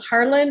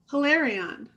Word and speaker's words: Hilarion: Harlan, no, Hilarion. Hilarion, thank you.